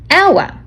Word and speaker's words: hour: get stuck on an hour it's tricky because the hate is silent we don't say h we say our so because it starts with a vowel sound we use n so